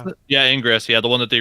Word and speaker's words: Ingress: Is that how you pronounce it? Yeah, Ingress.